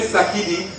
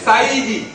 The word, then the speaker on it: Saïdi: Là encore, c'est la malprononciation des bobos avec un peu de diapalo qui a amené Sakidi. Sinon, c'est Saïdi, qui veut dire en arabe monsieur.